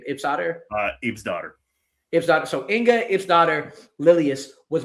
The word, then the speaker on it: Ibsdotter: How do you pronounce Inga's middle name? Ibsdotter? Ibsdotter. Ibsdotter.